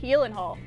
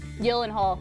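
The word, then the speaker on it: Gyllenhaal: Jake Yenhal. Uh, come say it again. Nope. It's actually pronounced Yelenhal.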